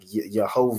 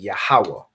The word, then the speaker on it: Yahawah: pronounce these letters so you're not saying like yahovah or however you know the oppressor would pronounce it however they pronounce it with their Yiddish you convert it into the ancient Hebrew so you're saying yahawah you recognize these letters